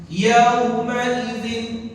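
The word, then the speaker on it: يومئذ: Kesalahan orang membaca harful lin dua. Pertama apa? Bacanya diseret. Yauma idzin alaihim.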